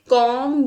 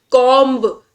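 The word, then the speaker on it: comb: तो यहां पे कॉम योर हेयर, ना कि कॉम्ब। कॉम्ब नहीं बोलते हैं हम, इसे क्या बोलते हैं? कॉम बोलते हैं। ओके, कॉम्ब में जो बी है आपका वो साइलेंट रहेगा।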